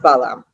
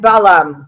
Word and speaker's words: Balaam: Okay, in Hebrew we say Bilam. In English, I believe it's pronounced Balaam.